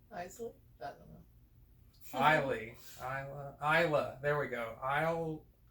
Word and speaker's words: Islay: distilled by ardbeg distillery and the isle of islay it's like no all right all right i already pronounced it wrong huh nicely i don't know kylie isla isla there we go isle isle of isla